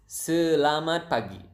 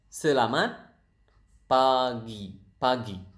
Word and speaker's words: selamat pagi: It is selamat pagi. Selamat pagi. Selamat pagi. So the natural speed would be selamat pagi. The slow speed would be selamat pagi.